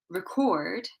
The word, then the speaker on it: record: If it's a verb or an adjective, we place the stress on the second part of the word, the second syllable.